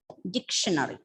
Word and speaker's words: dictionary: See, the word is pronounced as dictionary. Why I said this? Because I have heard students pronouncing it as dictionary. It's not dictionary, it's dictionary. And just one more to make it 8.